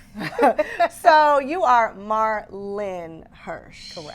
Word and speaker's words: Marlyn: So I started saying my name is Marlin. They're like, uhoh. Well, I thought I saw I Well, you didn't see an I. It's not in there. There's no eye there.